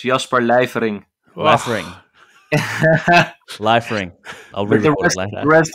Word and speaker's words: Lijfering: king of vintage welcome to ot podcast liffering from amsterdam vintage watches a little shop in